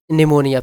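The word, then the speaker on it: pneumonia: है doctor called him निमोनिया piece में silent है ठीक है डॉक्टर उसे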